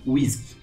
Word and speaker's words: WSGI: eles pronunciando easy né geralmente eles não falam wsgi eles falam whisky e aqui nesse whisky